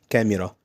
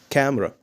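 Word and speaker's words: camera: بنقول عليها كاميرا لا انت علشان تنطق كلمه كاميرا بطريقه صحيحه باللغه الانجليزيه كلمه كاميرا مش هقول عليها كاميرا بالانجلش لازم هنشيل منها حرف الاي يعني ايه يا مستر يعني النطق الصح بتاعها ازاي هقول عليها كاميرا كاميرا كاميرا مش هقول كاميرا لازم النط الصح بتاعها كامرا كامرا كامرا كامرا لو انت عارف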